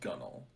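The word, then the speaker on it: gunwale: gone all and gone so gun wheel is pronounced gunnel i was right yes that's insane this wasn't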